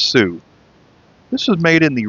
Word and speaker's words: xu: Instead of SU, they spelled it XU, but I guess it's still pronounced sou.